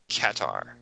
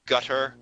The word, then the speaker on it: Qatar: at all just fantastic katar uh the BBC pronounce it catar okay thanks yeah I I've had heard it pronounced gutter katar katar I I've um I've heard it pronounced so many different ways uh anyway um and